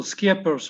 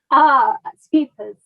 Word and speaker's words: Scheepers: Scheepers, is that right? Did I pronounce that it's actually like school, Scheepers with a K. Scheepers, Scheepers.